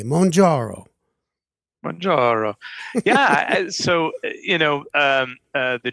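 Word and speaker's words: Mounjaro: member of the class that we pronounce in a very italian way monjaro yeah so you know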